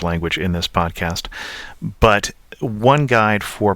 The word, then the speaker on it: Antibes: and L and so the S which is appearing at the end of on is not pronounced I hope that helps